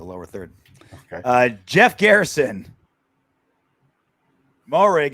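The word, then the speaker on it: Moehrig: Morig is pronounced Marriage.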